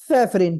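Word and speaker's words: safranin: याद रख लो, सैफरा, but pronunciation is सैफरिन।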